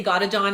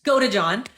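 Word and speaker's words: Godejohn: got John G sorry I always say it wrong I say got to John it's go to John um is her ex-boyfriend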